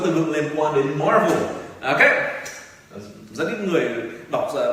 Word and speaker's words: Marvel: Thì mình sẽ dạy các bạn một số các từ vựng liên quan đến Marvel. Ok. Rất ít người đọc đúng cái tên này, nhưng mình ra sạp chiếu phim các ông toàn đọc là Marvel.